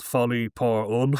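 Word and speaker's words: Folie Pour: It's called Folly Pun, which is it's like joker folly ad. So I'll spell it out just in case people's French isn't great. So it's f O L I E P O U R.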